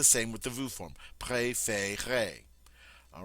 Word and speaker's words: préférez: The same with the vous form, préférez.